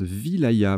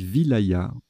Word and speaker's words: wilaya: deux ailes à ça ça se prononce wilaya main voyez je le découvre petite découverte donc on dit wilaya ok division administrative de